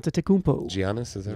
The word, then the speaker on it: Giannis: it right H TMO Giannis is that right practicing yeah I think they pronounce it Giannis jannis Giannis yeah so he he's